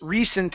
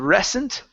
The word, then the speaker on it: recent: So, um let's practice recent as well instead of recent. Okay. It's recent. Recent.